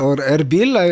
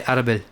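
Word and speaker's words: Erbil: Oril I saw in the on the map but I don't know I heard it pronounced so I guess it's like that. We say Arabil.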